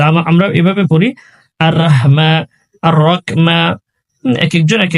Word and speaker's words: রহিম: আল্লাহ আল্লাহ র আল্লাহ আল্লাহ রাহমা, মাতে এক সেকেন্ড পরিমাণ টানবো। আল্লাহ মা নির নির র উচ্চারণ এখানেও মোটা করবো। আল্লাহ মা নির রহিম, শেষে হা রয়েছে, গলায় চাপ দিব। রহিম রহিম পড়বো না, রহিম।